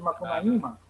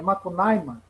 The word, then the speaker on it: Macunaíma: Talvez seja aquela longa estrada que o Macunaíma como os nossos parentes Macuxi exigem que se pronuncie o nome do herói deles, em vez de Macunaíma, é Macunaíma.